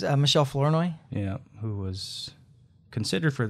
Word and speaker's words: Michelle Flournoy: You said Mliche. It's Michelle Flournoy.